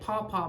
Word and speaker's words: Paw Paw: That's how you say it, Paw Paw, P-A-W, Paw Paw brand from Amazon.